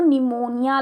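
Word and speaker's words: pneumonia: इसे लो भी कहते हैं दैट इज पेड़ों निमोनिया लाइक और गणेशम ठीक पहले मोनिया NSS पर पीस पेन शुरू होती है पीस साइलेंट होता है इसलिए पीपीएल नो रिन्यूवल निमोनिया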